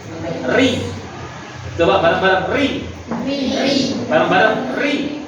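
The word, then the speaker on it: ر: Kalau tarkik itu tipis, seolah-olah kata orang Jawa sedikit meringis. Ri.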